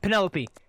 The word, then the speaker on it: Penelope: get a job from how much your name pronounced again penalope Penelope Penelope if you get a job from Penelope so